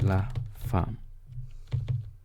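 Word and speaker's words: la femme: word I'm using is La Farm right la it is spelled e mme but is pronounced lafarm then let's create another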